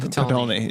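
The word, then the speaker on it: Potulny: Grant Patolny? Patolny, yeah.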